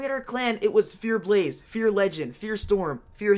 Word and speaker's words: FearxBlaze: And that's why I always say the X is silent, because it's more there for decoration. Like when we had our clan, it was Fear Blaze, Fear Legend, Fear Storm, Fear Haze.